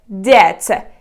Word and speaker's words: debt: you pronounce this one it is Deb here just ignore letter B because it is completely silent and debt is kind